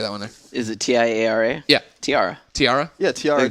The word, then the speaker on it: Tiara: do I say that one there is it TI A R A yeah Tiara Tiara yeah Tiara the thing you put on your head all right sorry everybody hi my name is Tiara de the girl who contacted you on that's